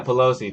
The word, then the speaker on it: Pelosi: is that am I saying it right yeah Pelosi Pelosi yep her they're taking too long in